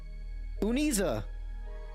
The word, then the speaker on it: Uniza: Oh my gosh, seen me after so long that I, Uniza is how you say the name.